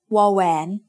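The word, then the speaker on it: ว: It makes the sound w, just like the W in water. But when it is the final consonant in a syllable, it blends with the vowel to add a slight o sound.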